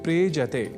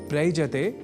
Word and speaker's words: प्रेजति: क्रिया का शब्द है प्रेजति जिसका अर्थ होता है कांपता है। यहां प्र उपसर्ग के साथ एज्री इस कंपन परख अर्थ वाले परस्मय पदी धातु का प्रयोग है। दोनों के मेल से शब्द बनता है प्रेजति। प्रयजति नहीं।